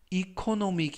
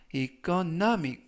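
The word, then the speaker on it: economic: 라고 발음 하시면 되겠구요 이 때 유의하실 점은 이코노믹 이 아니라 이끈 남이 강세는 알파벳 꾹 중간부분에 있는 알파벳 o 의 강세가 있고요 그래서 이코노믹 이 아니라 이끈 남이 라고 발음 하시면 좋겠습니다 품사는 형용사 뜻은 경제의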